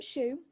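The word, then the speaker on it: Shueue: and his name's tom shoe it's spelled s-h-u-e-u-e the second ue is silent but you've got to do the lips to it um yeah exactly and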